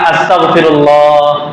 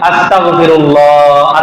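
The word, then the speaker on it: أستغفر الله: এটার উচ্চারণ সহি হওয়া জরুরি। আমরা অনেক সময় আস্তাগফিরুল্লাহ ওয়াইনটা ঠিকমতো উচ্চারণ করি না, এই জায়গায় কাফ উচ্চারণ করে ফেলি, আস্তাগফিরুল্লাহ আস্তাগফিরুল্লাহ।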